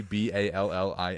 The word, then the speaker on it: Ballin: It is definitely Ballin. So we ballin. So in 1892, as a refresher, the U.S. Supreme Court held in United States v. Ballin that the Senate was free to amend its